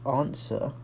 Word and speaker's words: answer: So answer, this is the only one where we've got a silent letter. So answer, you've got a silent W there.